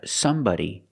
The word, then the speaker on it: somebody: words too we have somebody anybody nobody everybody we spell them like body but we pronounce them like buddy with a short sound using the short uh like up and cup somebody anybody nobody everybody